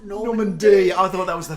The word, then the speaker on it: Norman B: It's spelled Norman B, but it's pronounced Normandy.